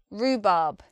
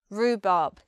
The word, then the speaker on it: rhubarb: called rhubarb and custard rhubarb rhubarb this word is interesting because it has two long vowels in it ruh Bob ooh ah rhubarb next we have a